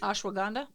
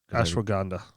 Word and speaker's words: ashwagandha: Ashwagandha.